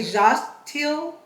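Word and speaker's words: Xochitl: i t l so I'm going to say jtil Gonzalez okay so um again forgive me if I did not pronounce the name correctly but that is Anita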